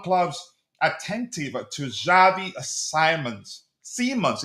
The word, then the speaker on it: Simons: So, uh, Chelsea and Arsenal among clubs attentive to Javi Simons, Simmons. It's pronounced Simmons, not Simons, right?